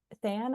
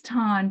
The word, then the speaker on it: Tan: Than, I hope I'm pronouncing your name right. It's Tan.